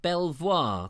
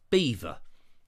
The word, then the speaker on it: Belvoir: because it's I think some people call it beaver castle and others call it Belvoir Castle because it's spelt Belvoir but I'm also told that it beaver now quite how you get to beaver I don't know or